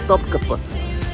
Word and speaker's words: Topkapı: O guia me corrigiu na pronúncia, Topkapı.